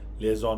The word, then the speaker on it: liaison: इसकी स्पेलिंग है LIAISON, लिएज़ॉन office.